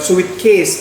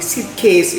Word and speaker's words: suitcase: Ya, bacanya suitcase ya. Huruf U di sini tidak dibaca ya, bukan suitcase tapi suitcase ya.